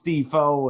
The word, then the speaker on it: DeFoe: name and he's like you've been saying it wrong it's defoe and and i said